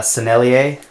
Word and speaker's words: Sennelier: two I use La franc I use uh sennelier I think that's how you say it um